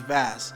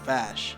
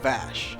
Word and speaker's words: Vass: keep saying in vash when the box is vast but that's because vas is actually pronounced Bosch I know it's hard for me to be